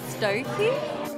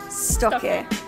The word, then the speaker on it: Stokke: do you pronounce the name of our brand stoy oh I would pronounce it stocky oh stocky sto St stoy stocky Stoke Stoke I think it's stoy stalker I say